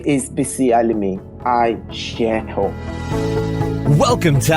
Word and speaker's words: Bisi Alimi: It's Bisi Alimi. Is that how I pronounce it? Yes. I got it right? It's Bisi Alimi. Bisi Alimi.